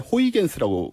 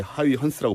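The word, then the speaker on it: Huygens: 이 영어식 오래된 발음이었고, 사람인데. 네, 얘도 네. 옛날 사람인데 이 사람도 이제 요즘은 네덜란드 발음으로 바꿔서 이렇게 하이헌스라고 불러주는데 어허.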